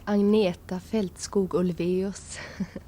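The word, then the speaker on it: Agnetha Fältskog: And my name is Anieta Feltskos. And we both are married and he'll have no problem with pronouncing.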